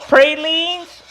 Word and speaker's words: pralines: Now I know all of you people out there are saying, ain't it pralines? Not if you from Cajun country, chef. It's called pralines. You pronounce it en français.